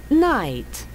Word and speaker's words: night: Night. Night. Night. وفي المقابل night الليل. Letters GH are silent letter.